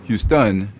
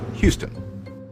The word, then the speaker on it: Houston: on words for example all French words are stressed on the final syllable usually with a higher pitch and greater volume that's why French speakers will call the Texan City Houston instead of the English Houston meanwhile English words often